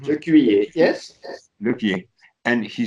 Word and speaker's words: Lequier: It's spelled L-E-Q-U-E-I-E-R, Lequier in French. Lequier, yes.